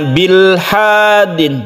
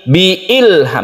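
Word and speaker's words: بِإِلْحَادٍ: itu ini tetap dibaca bukan kita membacanya bilhadin Bukan tapi Bi Ilham memang ini asli ya Asli kasrah Bi Ilham nah mim ini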